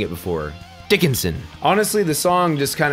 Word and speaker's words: Dickinson: a lot of Bruce Dickinson Dickinson sorry for mispronouncing it before Dickinson honestly the song just kind of has a